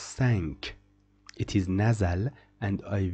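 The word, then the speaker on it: cinq: pronounce this word syn I will tell you why we don't pronounce it sink it is pronounced sank it is nazal and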